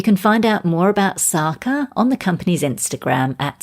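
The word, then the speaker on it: Tsaka: fashion the new range sarkar and that spelt TS AKA so the T is silent are based on ancient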